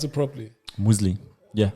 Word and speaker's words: Nomoozlie: Did I pronounce it properly? Nomoozlie. Yeah. It's Nomoozlie.